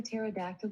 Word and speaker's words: pterodactyl: can't you hear a pterodactyl go to the bathroom the p is silent do you want to